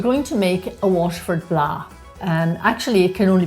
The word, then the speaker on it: blaa: Because Kevin pronounces it kind of fancy. He says blah. No. It's like, that's not how they say it in Waterford, Kevin. They say blah. No. So it probably, Blaas, it's Blaas.